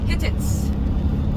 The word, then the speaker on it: Hittites: So the first civilization of Cappadocia were Hittites. Have you heard about Hittites before? Yes, or in history. Hittites, or Hittitians, or Hittitas, Hittichis. Lot of pronunciation about them. Let me say Hittite or Hittitians around 2000 BC.